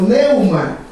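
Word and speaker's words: pneuma: En el original griego, espíritu viene de un término conocido como neuma. Neuma. Se escribe P-N-E-U-M-A. Neuma.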